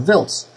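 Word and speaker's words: Wiltz: it's VZ not wilz VZ will it's it's pronounced vils but you you know sometimes the Americans call it wils but same same place no matter what they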